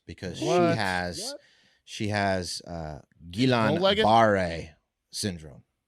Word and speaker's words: Guillain-Barré: there's 3 different pronunciations. And Guillain-Barré. I believe it's Guillain-Barré. I think it's Guillain-Barré. Guillain-Barré. Guillain-Barré is how you'd say it.